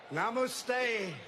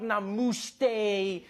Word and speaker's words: namaste: Namaste, Chiwala, Gujarat, Sardar Patel, Ashram, Sachin Tendulkar, Gujarat, Goa, Diwali.